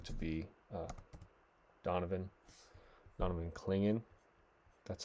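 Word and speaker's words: Clingan: to is going to be uh Donovan Donovan kingan that's how you say it we're going to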